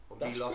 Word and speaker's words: Milos: aan island of Milos I think it's pronounced Milos per so did it